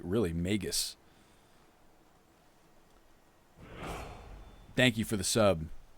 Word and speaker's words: magus: completely forgot let's see magus typically has a hard g really magus thank you for the